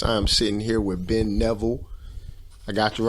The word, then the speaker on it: Neville: that Marcus Davis I'm sitting here with Ben Neville I got you right that's right yes man